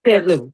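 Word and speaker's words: Ted Lieu: did you see is it Ted Lou? Is that how you pronounce Yeah, that? Ellie? Okay, Yeah. Ted Lou.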